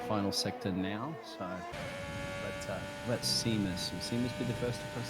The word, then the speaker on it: Seamus: It has an A in it. S-E-A. That's how you spell C. I agree, but it's pronounced Seamus. He's Irish, I believe.